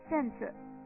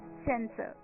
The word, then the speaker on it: censer: हम कह देते हैं सेंसर, CENSER, सेंसर. और दोस्तों, ये जो वर्ड है, ये 3 वर्ड हैं जो एक जैसे सुनाई देते हैं.